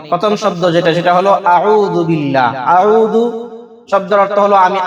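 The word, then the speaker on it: أعوذ بالله: যদি আপনি আইন দ্বারা উচ্চারণ করেন এর অর্থ হয় আউজু অর্থ হল আমি আল্লাহর কাছে পানা চাইতেছি আশ্রয় চাইতেছি। কিন্তু যদি আপনি আউজুবিল্লাহ না বলে আউজুবিল্লাহ বলেন হামজা দিয়া বলেন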